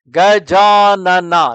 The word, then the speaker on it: Gajanana: There is a famous name of Ganesha consisting of four syllables. Gajanana. These are the four syllable word.